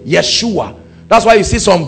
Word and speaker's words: Yeshua: means God our Salvation that's where they get Yeshua because they pronounce why for J Yeshua that's why you see